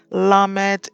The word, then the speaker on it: lamed: numerical value is 20 lamed is the 14th letter is pronounced as an L as in light numerical value 30 meem